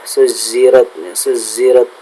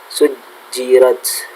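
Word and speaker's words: سُجِّرَتْ: Ingat, untuk pelafalan jim terkadang ada beberapa orang, ada sebagian orang yang terkadang jimnya itu kayak za, ya, suzirat, adalah yang betul adalah ja, ya, sujirat, seperti itu.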